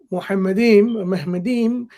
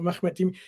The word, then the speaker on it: Muhammadim: So the word Muhammadim, or as Dr. Brown pronounces Mahmad or Mahmadim, he's not even willing to pronounce it as the rabbis have pronounced it.